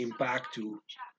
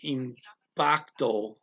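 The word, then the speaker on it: impacto: says gonna say impactu they're gonna take their long o's and make them ooh at the end depending on the accent some people will say this word is in bacto as they're saying it slowly and then fast talking they'll say impactu but some people will say impactu every time so and i'm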